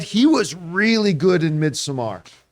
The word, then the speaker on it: Midsommar: was really good in Midsommar. Some people pronounce it Midsummer, whatever you want to say. I always called it Midsommar.